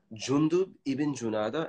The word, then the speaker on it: Jundub ibn Junada: It's a little bit difficult to pronounce. Jundub ibn Junada, and he was from the tribe of al-Ghifar.